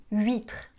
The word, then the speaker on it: huître: Ok, alors les H des mots huile, huître et huit, ne se prononcent pas.